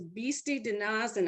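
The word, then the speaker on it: Bisti/De-Na-Zin: new mexico is and i have to say it correctly is beasty dinasan out of respect for the navajo that's the navajo name and this is uh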